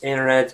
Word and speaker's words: internet: definitely advisable that you pronounce the words internet, interview, interact and similar words without t sound, basically you just omit the letter t.